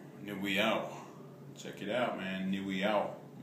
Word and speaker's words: Owiiyaw: So first of all, Owiiyaw. Owiiyaw.